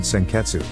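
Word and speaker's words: 鮮血: Ryuko's Unfairam is called Senketsu, but is pronounced Senkets.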